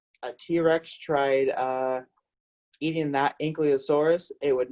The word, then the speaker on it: ankylosaurus: an army tank yikes so this dinosaur we pronounced a cue of soreness ink you a source you can practice at home ankylosaurus so an ankylosaurus had the spikes on the